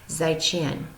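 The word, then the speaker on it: 再见: markings in their words to say goodbye in Chinese you would say zhichen all right so I'm gonna say is I chin to you guys for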